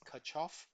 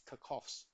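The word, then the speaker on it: Kirchhoff: the kov first law you may pronounce it as kof doesn't matter but I prefer to pronounce it as kov first law it simply means that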